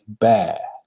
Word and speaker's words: bear: pronounce the the word you pronounce it just just the same as the big animal which you can find in Alaska or England publish mountains right it's bear so bear in mind